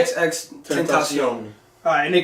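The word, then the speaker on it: XXXTentacion: You were saying his name wrong. Extension, like, come on, bro.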